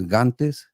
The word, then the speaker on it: Gantes: in Mexico uh it's my last name is gantes that's how my family pronounced it and so originally there